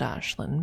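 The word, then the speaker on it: Ashlyn: And I pronounce it Ashlin because Americans would not be able to pronounce uh the actual name if they read it.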